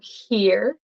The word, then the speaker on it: here: two are the same so here here it's kind of like the E ear here and if you if